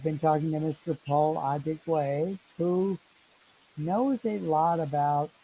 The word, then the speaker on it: Adigwe: So, ladies and gentlemen, we've been talking with Paul Adigwa. I am trying to say his name correctly. He's a Adigwe, very, Adigwe.